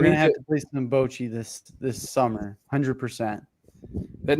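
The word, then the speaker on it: bocce: Yeah, you got to pronounce it Bochi.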